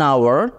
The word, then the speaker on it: hour: tinggal di sebuah hotel in some words that begin with H the h is not pronounced jadi pada beberapa kata